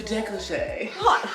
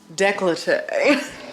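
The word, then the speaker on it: décolleté: you want to match the foundation to the decoche I'm glad I know I have a negligee girl I thought the child was trying to say negligee really this is how you say it they call it decollete I am talking about yeah I was about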